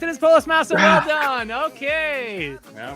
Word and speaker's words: Polis Masa: It is Polis Masa.